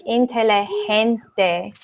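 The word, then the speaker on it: inteligente: hear you guys I it has like an H sound like intelli hens day but maybe Jamie you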